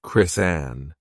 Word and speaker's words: Kristen: laughing she explained that her real name was Kristen a Greek name pronounced chrisanne and that an aunt